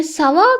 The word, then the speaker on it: ça va: එතකොට මේ ça va කියන word එකේ meaning එක how are you එහෙම නැත්නම් I'm fine. මේක pronounce කරන්නේ ça va.